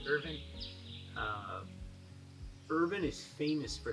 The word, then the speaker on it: Irvine: are in urban Kentucky spelled Irvine but you pronounce it Irving Irvin is famous for